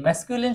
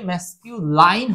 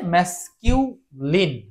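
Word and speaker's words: masculine: ম্যাসকিউ লাইন হবে না। অনেকে এই লাইন বলে থাকে। লাইন হচ্ছে ভুল। লাইন কথাটা ভুল। লাইন কথাটা ভুল। তাহলে এটার উচ্চারণ হবে ম্যাসকিউলিন।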